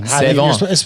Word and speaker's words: Savon: Sevon. You're supposed to be like a mixture of Seven and. Seven. Sevon.